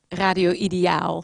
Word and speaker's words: Ideaal: We say Ideal Radio, but how do you pronounce it? Radio Ideaal. Ah, Radio Ideal.